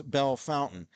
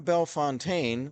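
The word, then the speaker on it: Bellefontaine: to split the word they pronounce the French word Bell and then Fontaine they say fountain so it's kind of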